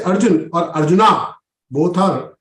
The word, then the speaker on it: Arjuna: when they speak about Arjun or Krishna they will speak Arjun and Krishna not Arjuna and Krishna why it is wrong it's wrong the correct pronunciation is Arjuna oh I see ah